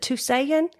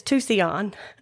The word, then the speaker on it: Tusayan: Is it Tusayan? And he belly laughed. Oh. He said it's Tucson. And I thought, well, that sounds a whole lot like Tucson, Arizona, which also Right.